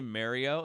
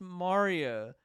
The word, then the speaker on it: Mario: that coffee it's like when people mispronounce like mario to me that bugs me like some people will say mario it's like oh no it's mario that that one upsets me